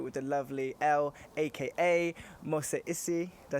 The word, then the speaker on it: Mose Issie: I'm here with the lovely Elle, aka Mose Issie. Did I say that right? Yes. Is that good? Is that good pronunciation?